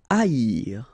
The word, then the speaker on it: haïr: Haïr. Okay, so keep in mind that here you will pronounce it like I. A-I-R. First H is not pronounced, okay, so A-I-R. Haïr.